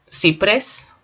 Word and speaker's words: ciprés: Ciprés, aguda, porque tiene la mayor fuerza de voz en pres.